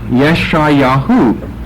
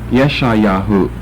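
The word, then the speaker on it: ישעיהו: Yirmeyahu, Yeshayahu. And yet Jeremiah and Isaiah don't sound alike at all. Jeremiah, Isaiah. And yet we have Yirmeyahu and Yeshayahu.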